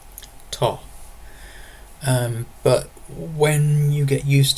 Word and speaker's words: to: To avoid confusion, you can always pronounce this as ta. Ta.